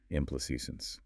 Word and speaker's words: implications: Implications, phonetically, it's sample can. Okay, 5 syllables. Yep. The primary stress, the main emphasis, falls on the third syllable, A, which has the E sound like in say or make, implications. Got it. Stress on CA.